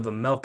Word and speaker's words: Vejmelka: But when you threw out the Vejmelka, I was like, the J is silent, like the G in lasagna.